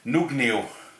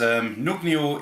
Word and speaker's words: Nøgne: It's from, I'm assuming it's pronounced Nøgne, because the O with a cross for it is a O in Norway.